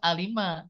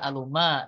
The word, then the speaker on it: Alif Lam Mim: muqah yau terpisah ya Secara bacaan seperti Alif Lam Mim ya dibaca alima tidak dibaca aluma tidak dibaca Alama karena tidak ada harakat